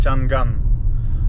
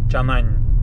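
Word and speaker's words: Changan: Кстати говоря, данный автомобильный бренд многие также называют Чанган, а так читается Чанань.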